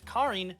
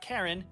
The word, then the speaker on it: Karine: it out second correction his character name is karine not karen aaron definitely karen he's